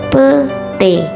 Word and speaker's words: petai: Kata ramai atau ramai diucapkan rame, petai, petai diucapkan pete.